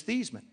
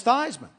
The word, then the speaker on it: Theismann: pronounce your last name I said it's these men he said no it's not it's Theisman I said no it's